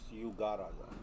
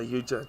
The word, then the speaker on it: Yugaraja: Yugaraja. Yugaraja. I tend to say Yuja, don't I? Not Yuga.